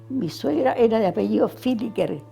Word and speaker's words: Villiger: Mi suegra era de apellido Filiker, que se escribe Villiger, con B corta y doble L, Filiker.